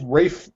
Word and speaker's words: Ralph: Well, no, it says Ralph Fiennes there, but I always thought his name was Rafe Fiennes. Like it is Rafe Fiennes. It's a weird pronunciation. It's spelt Ralph.